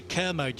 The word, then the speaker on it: Kermode: this one, Bex, we have to say Kermode. You say Kermode. That's how he likes it pronounced that way around.